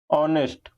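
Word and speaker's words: honest: पर किया है ए ऑनेस्ट पर्सन तो आप लोगों को समझ में आ गया होगा कि यह होता है ऑनेस्ट लेकिन हम लोग क्या पढ़ते हैं ऑनेस्ट आपका एच साइलेंट होता है तो यहां आपका ए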